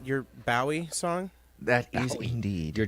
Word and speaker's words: Bowie: That's your David Bowie, your Bowie song? That is indeed. Your John Ross Bowie song? Well, I'm pretty sure it's pronounced Bowie. Everybody just said Bowie, like the knife.